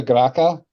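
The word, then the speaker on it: Graça: Um, the Estupenda Graca or Grasa, however you pronounce it. That's Grasa.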